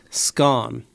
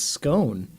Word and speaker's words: scone: Remove the G and replace it with SC. Now say scone. Who says scone? It's scone. Well, the British say Dane would scone. say, can I get a nice scun, please? What? You're just saying skunk without the K.